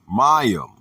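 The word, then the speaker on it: מים: The word is mayim, pronounced ma-yim.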